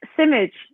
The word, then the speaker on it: Simic: It's Simic. Simic would be quite correct.